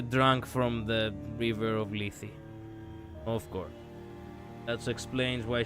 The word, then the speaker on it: Lethe: You didn't say it correctly, but hey, I I like the attempt in Greek here. It's not Lethe, it's Lethe, but whatever.